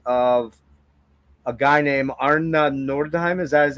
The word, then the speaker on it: Nordheim: to do remixes of a guy named Arn Nordheim. Is that how do you pronounce Nordheim who's who's the greatest electronic music composer of Norway.